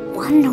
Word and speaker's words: wonder: 자, 여기 지금 자막은 원어노라고 돼 있는데, 스크립트 제가 보내드린 발음이 더 맞아요. wonder이에요, wonder.